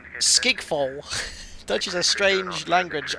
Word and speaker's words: Schiphol: It's difficult to pronounce. People say Schiphol, but it is pronounced Skigfol.